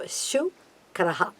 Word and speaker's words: Shukra: Shu, that is again the palatal, Shivasha. So, Shukraha, one who has done so many yagas or activated so many yagas for the Asuras.